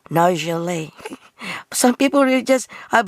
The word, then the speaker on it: Nargeolet: But in reality, they pronounce it Chevrolet. The same as Nargeolet.